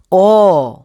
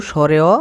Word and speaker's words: অ: তাহলে ভিডিওটি শুরু করি অ সঠিক উচ্চারণ হলো অউ স্বরে অ বা স্বরে অ পড়বা না কি পড়বা অ আরেকবার